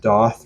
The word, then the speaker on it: Daath: I've heard this uh the band spells their name d a a t h and they have circles above the a so I guess it's pronounced doth rather than dth or anything any other way of pronouncing it um my favorite track